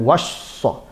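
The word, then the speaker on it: وصّى: Makanya cara membacanya ditasdidkan, wassa. Wassa itu ada tekanan, tasdid namanya, syiddah, ada kekuatan.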